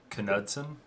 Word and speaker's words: Knudsen: You pronounce the K in my name. I'm Norwegian. Oh, okay. So, Knudsen.